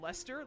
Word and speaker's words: Leicester: There's any other way to say that word other than Leicester?